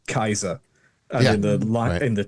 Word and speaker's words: Caesar: So, we say we say Caesar, for example, which is an anglicization. A classical Latinist would would say Kaiser, and in the in the church, we'd say cheesa.